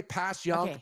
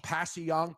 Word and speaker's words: Passyunk: You can say Passyunk, Passyunk, Passyunk. People say it different ways.